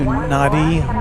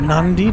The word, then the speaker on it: Nadi: Go to Nadi or Nandi depending how you pronounce it.